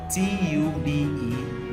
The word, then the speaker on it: tube: the letter B because the E is now silent t u b e tube tube okay like a tube